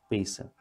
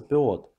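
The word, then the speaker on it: פאות: Однако во многих общинах существует обычай отращивать волосы на висках, пейсы, чтобы показать любовь к этой заповеди. Со временем эти отрощенные волосы стали называться пиот. В ашкеназском произношении это слово звучит как пейс.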